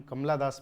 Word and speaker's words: कमला दास: इसके जो पोइट हैं वो कमला दास हैं, इन्हें हम कमला दास पढ़ेंगे और कमला दास की स्पेलिंग जो है वो KAMALA है, कमला दास।